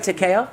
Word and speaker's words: Takeo: Takeo? Takeo, yes. Takeo. Yeah, are you Takeo. Japanese? Takeo. Takeo. TKO. Love that. Like a knockout.